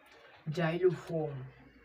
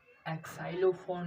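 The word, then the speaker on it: xylophone: आया सिक नेक्स्ट देखिए जाइलोफोन क्या है एक्लो फन नहीं इसको एक्लो फन नहीं पढ़ेंगे जाइलोफोन प जाइलोफोन में उच्चारण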